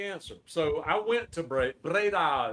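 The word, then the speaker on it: Breda: So, I went to Braida is how they pronounce it.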